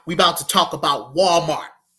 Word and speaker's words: Walmart: Now we about to talk about Walmart. Walmart. Notice that I highlight the wall part. WAL. WAL. Walmart was founded by Sam Walton. Sam Walton. Walton Walmart.